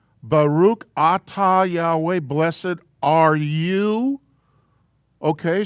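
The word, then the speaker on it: אתה: We're saying, Baruch atah Yahweh, blessed are you. Okay, so for the masculine, it's the Aleph Tav. Says I. So this is pronounced Ah. Atah.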